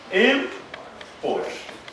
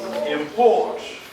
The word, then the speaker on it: import: When used as a verb, stress the second syllable. For instance, this could be import. That is a noun. It could be import.